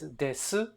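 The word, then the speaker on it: です: it in day-to-day Japanese you don't really say the U you kind of or you make it very very very short as silent as possible so this this so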